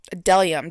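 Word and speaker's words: Bdellium: That is a bedellium delium tools. The the B is silent.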